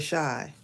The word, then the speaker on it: Chi: I'm gonna write it I call it the shy it's like short for Chicago like the chai c-h-i